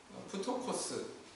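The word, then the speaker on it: πτωχός: 단어입니다 또 가난하다라고 하는이 동사는 프토코스 이렇게 발음한다고 그래요 근데 그 단어만의 뜻은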